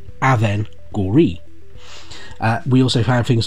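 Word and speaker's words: Avengorii: we can say it but it is literally aven gori we also found things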